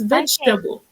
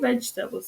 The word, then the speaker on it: vegetable: each sybles but it's vegetable vegetable but for them is sometimes we silence certain letters in the word so that it it flows correctly so vegetables and they're like why vegetables so I have to